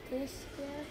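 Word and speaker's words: Tyskie: Tiszkie.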